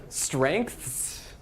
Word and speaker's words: strengths: of drops out uh english is just i mean terrible here look at this strengths that's just awful there's even like a hidden k in there when you pronounce it that we don't write